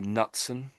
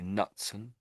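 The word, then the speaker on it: Knutson: Often the K is silent, but I've never seen this name before. So I'd say Nutson. I'm So we're going to ignore the K completely. I'm assuming it's assume it's silent.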